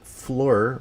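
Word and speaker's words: Fliehr: at a point where rick flair and rick fleur right i think it's pronounced his real last name rick yeah is one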